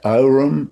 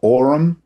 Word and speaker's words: aurum: Aurumocracy depends a little on how you pronounce the word aurum, whether you pronounce it aurum or orum, but that is the Latin for gold.